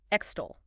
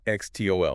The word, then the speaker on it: extol: Extol. Ext. X. Two syllables. Stress on the second.